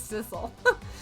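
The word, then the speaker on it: Sissel: guys were like yeah it's sisle who know maybe it's just cuz it rhymes with missile and they were like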